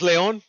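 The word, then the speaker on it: León: In Spanish, it's Leon. I've called it Leon before. But just kind of like an inside joke with my sisters and shit. That's what we call it actually at home, Leon. But yeah, it's pronounced Leon.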